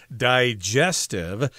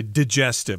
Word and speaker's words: digestive: Now, this word is usually pronounced digestive. But when we speak fast, I think we tend to say digestive. My digestive system, we kind of skip over that I sound.